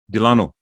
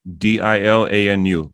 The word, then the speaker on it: Dilanu: Dilanu. Dilanu. Like Dil, like heart. Anu.